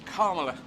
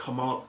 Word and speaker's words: Kamala: we worked on this, you have to emphasize the first syllable of her name. It's Kamala, as opposed to... Kamala, okay. No, it's Kamala. Kamala. Yeah, Kamala. Put a dash after the A, Kamala.